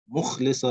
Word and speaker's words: مُخْلِصًا: فَعْبُدِ اللَّهَ مُخْلِصًا, not muk, not ka, not kaf but kha. مُخْلِصًا لَهُ الدِّينَ.